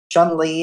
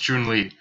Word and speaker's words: Chumlee: __ ] damn it Chumlee is really where did you get into your head that it's pronounced Joon Lee I don't know look